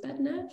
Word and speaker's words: BatNav: renewables work in the future dave found it bat nerve am i pronouncing it right bad nerve perfect but batnap provides engineering and project services